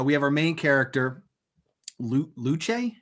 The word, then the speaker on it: Luce: have our main character luche is that her name loose loose it's spelled luch it's yeah loose but like doesn't she